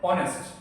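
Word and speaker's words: honest: আরেকটা হচ্ছে এরকম যে ধরটা একটা ওয়ার্ড যেটা শুরু হইছে ভের দ্বারা কিন্তু শুরু হইছে কনসন্ট কনসোনেন্ট দিয়ে শুরু হইছে উচ্চারণ ভের। যেমন ধর অনেস্ট এস অনেস্ট অনেস্ট শুরু হইছে কি দিয়ে দেখ এটা কনসোনেন্ট।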